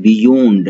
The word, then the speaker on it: beyond: इसका उच्चारण करते हैं बूंद नहीं इसको उच्चारण करते हैं बियोंड थे जो भी वर्ड